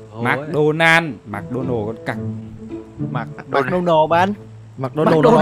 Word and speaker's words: McDonald's: McDonald's là nói kiểu du học. Nó đọc đúng rồi mà, nó đọc chuẩn tiếng Mỹ rồi đấy ông ạ.